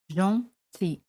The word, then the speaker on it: gentil: Gentil, gentil. Amables, amables, gentil. Se pronuncia igual, solo se añade ese al final, gentil.